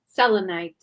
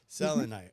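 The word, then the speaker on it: selenite: Selonite. Selonite. Selonite. That's right. Selonite.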